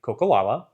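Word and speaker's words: Coeur d'Alene: This is not mispronounced as often as Oreille, but it's still something that I hear quite often of like Coco, and they have a hard time saying it.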